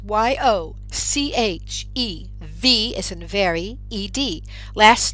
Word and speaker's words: Yocheved: And if my name is hard for you to spell, it's Yochev, as in very, E-D. Last name. That CH in my first name, it's pronounced the same way as in Bach, the musician.